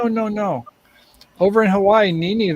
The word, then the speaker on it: nene: no over in hawaii nene that is a woman's breast that's pronounced nina yeah i i'm going